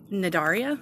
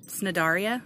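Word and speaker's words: Cnidaria: i dar IA and i guess I thought the C is silent and that's the phylum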